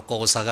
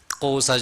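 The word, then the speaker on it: Xhosa: 인데요 꼬 사족 있고 사람 말도 우리말로 고사가 아니라 이렇게 이렇게 튕기면서 5 4 이렇게 야 맞는 발음입니다 꼿아 저 이렇게 섬기고 있는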